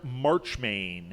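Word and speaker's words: Marchmain: as stuffy Lord Oh I said his name wrong maybe that was why you didn't get it it's Lord March main oh that makes all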